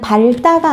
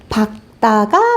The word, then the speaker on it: 밝다: 얘는 밝다가 아니고요. 올바른 발음 어떻게 될까요? 그렇죠. 박다가 맞습니다.